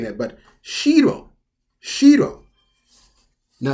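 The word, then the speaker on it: 城: Now, if you were to say it with a low pitch, if you say it like shiro, shiro, this one here, you see where it says castle? It has the same romaji there.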